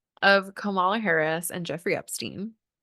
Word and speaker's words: Kamala: Just asking questions of Kamala Harris and Jeffrey Epstein. Kamala is actually the right pronunciation.